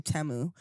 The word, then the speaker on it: Temu: And Tamu. Okay. Thought it was like a drug dealing thing. Temu, yeah.